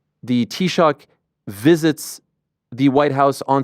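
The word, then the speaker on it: Taoiseach: Historically, um and and and how do you pronounce the the prime minister's name title in uh in Gaelic? It's Tshock. Say it.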